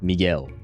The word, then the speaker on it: Miguel: with the E, not Miguel. So, it would be Miguel Miguel Miguel me not sure I understood the assignment. So wait, me and then girl. Miguel. Yes. Yes. Miguel. Ignore the U.